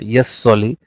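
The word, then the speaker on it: jus soli: मैंने आपको ये वर्ड का प्रोनाउंसिएशन जस्ट नहीं होता, यस होता, याद रखिएगा, यस सॉली.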